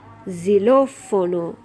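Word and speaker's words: xilófono: Again, we have accent on the middle vowel, the second vowel. In English, we would say xylophone. Xylofono. We would automatically be putting accent on the first vowel. But because this is here, this accent, we have to put our accent on this vowel. So xylofono, like that.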